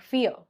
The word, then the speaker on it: fear: R is silent in this word, like fear, R is silent.